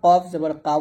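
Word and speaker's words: ق: এরকম তারপর হচ্ছে কফ এটা খুবই গুরুত্বপূর্ণ এটা আমরা অনেকে কফ জবর কাফ বলি মানে এই দুইটা এই দুইটা হরফ আমরা একই ভাবে উচ্চারণ করি তো এক উচ্চারণ করার জন্য এটা হবে কফ এটা হবে কাফ তাহলে এটা বলতে হবে কফ জবর ক আর এটা হবে কাফ জবর কাফ এখানে কফটা মোটা হবে কাফ পাতলা হবে হবে এগুলো আপনাকে বুঝতে হবে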